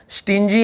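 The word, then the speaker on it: stingy: है कंजूस, ठीक है, जी के साथ वाई हो, आई हो या फिर ई हो, तो हम वहाँ पे जी का ग नहीं बोलते, जी का ज ऐसे उच्चारण होता है, ठीक है। स्टिंजी यानी होता है कंजूस,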